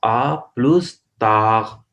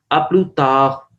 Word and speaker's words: à plus tard: तो ये लगेगा आपको आ प्लस ताक, आ प्लस ताक नहीं, एस साइलेंट है वहां पे डी साइलेंट, अपलू ताक, अपलू ताग नहीं भी कहना, हल्का सा आर काइन साउंड करना है, अपलू ताक, सी यू लेटर, अपलू ताक.